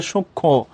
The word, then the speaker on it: সূক্ষ্ম: এখানেও দেখবো যে যুক্ত ব্যঞ্জনের ক্ষেত্রে, যুক্ত বর্ণের ক্ষেত্রে মফলার কোনো উচ্চারণ হয় না।